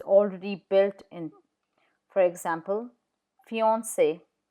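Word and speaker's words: fiancé: For example, fiance. C in front of E is pronounced S. So fiance or mercy. Mercy.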